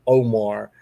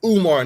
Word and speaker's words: Umar: It's Umar, nigga.